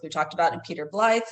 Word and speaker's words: Blythe: We talked about in Peter Ble. It it looks and rhymes with scythe. It sounds like blight.